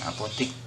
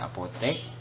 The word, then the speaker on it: apotek: Yang baku adalah apotek ya, bukan apotik. Jadi tulisannya apotek, bacanya apotek, bukan apotek ya.